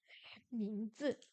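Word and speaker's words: 名字: quoi 什么 quoi 名字，名字 on va pouvoir faire une question du niveau A1 enfin 名字名字名字 le prénom c'est quoi les tons deuxième ton quatrième ton 名字名字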